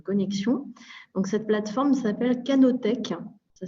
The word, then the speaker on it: Canotech: Donc, cette plateforme s'appelle Canotech. Ça s'écrit C-A-N-O-T-E-C-H, comme le début de canopée et tech technique.